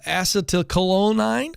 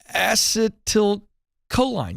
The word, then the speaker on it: acetylcholine: increases serotonin and uh acetylcholine oh boy i butchered that acetylcholine yeah there we go and this stimulates the